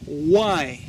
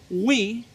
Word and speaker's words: why: La palabra, esta que está acá, se pronuncia why. Repeat with me. Repite conmigo. Repeat with me. Why. It is not why. It is not we. It is not why. No, that is not correct.